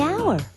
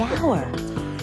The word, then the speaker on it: hour: The hour. Wait! H is not a vowel sound. It's a consonant sound. But it's not the first sound. The H is silent. The hour.